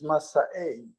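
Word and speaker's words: מסעי: But Masa'e, the real pronunciation is Masa'e.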